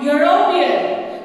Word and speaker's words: European: For example, if I say European, it starts with E, that is a vowel, but when I pronounce it, that is, the sound is of Y, European.